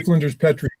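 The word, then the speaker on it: Flinders Petrie: So Pete, you said his name is How did you pronounce his name? I keep saying Petri. Flint. I say Flenders Petri.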